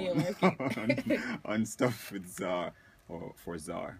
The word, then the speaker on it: Tzar: Okay, so the Tzar is Tzar, but the T is silent, as in Django P.